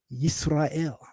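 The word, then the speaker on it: ישראל: That pronunciation captures how our name was pronounced in Hebrew, Yisrael.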